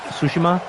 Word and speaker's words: Tsushima: I have Ghosts of Tsushima. That's how you pronounce it, right?